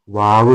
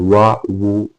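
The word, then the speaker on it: واو: Okay, അടുത്ത അക്ഷരമാണ് വാവ് എന്നുള്ളത്. ഈ വാവ് പറയുമ്പോൾ വാവ് എപ്പോഴും ചുണ്ടിൽ നിന്ന് വരുന്ന അക്ഷരമാണ്. വാ ഊ വി എന്നുള്ളതാണ് മലയാളത്തിൽ നമ്മൾ അതിന്റെ ഉച്ചാരണം പറയുകയാണെങ്കിൽ. വാവ് നമ്മൾ അറബിയിൽ പറയുമ്പോൾ അതിന്റെ സ്ഥാനം 2 ചുണ്ടുകളാണ്.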